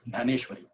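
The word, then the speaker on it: Dnyaneshwari: In Marathi, we pronounce Gyaneshwari.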